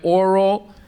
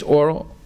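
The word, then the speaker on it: aural: There's a difference between O-R-A-L and A-U-R-A-L. Both of them are pronounced oral. You can't see any difference in the pronunciation. The one is not oral, and the other is oral. No, they're both pronounced oral, right?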